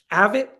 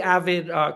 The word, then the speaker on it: AVID: So, thinking of in our schools, in our district, we have an initiative that is called AVID, which stands for, it's spelled A-V as in Virginia, I-D, and it stands for Advancement via Individual Determination.